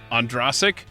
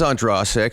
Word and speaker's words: Ondrasik: because i have always heard your last name pronounced andrasik i've never heard you correct anyone i'm just making sure it's not andrasic and you're just too nice of a guy